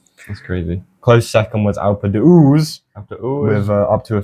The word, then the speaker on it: Alpe d'Huez: Take off the H. Alpe d'Huez.